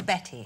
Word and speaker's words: Bette: but reading her biography, her name was spelt with a Y, and just to be a little bit different, when she was a teenager, she changed it to an E, but it was always Betty. It was called a Betty, and she was actually.